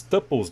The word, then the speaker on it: tuple: Falando aqui, né, sobre as tuplas, né, os tuples, né, se pronuncia tuple, mas a gente digita ali tuplas.